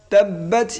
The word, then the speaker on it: تبت: تبت يدا أبي لهب وتب তাব্বাত ইয়াদা তাব্বাত এখানে যে তা এখানে একটু হামস হবে তাব্বাত লাস্টে সিনের মতো হালকা একটু উচ্চারণ করতে হবে তাব্বাত তাব্বাত ইয়াদা আবি